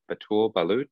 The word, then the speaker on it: Batoul Ballout: wolfe erickson and today we are joined by atul balut is that the correct pronunciation correct yeah that's good yeah amazing so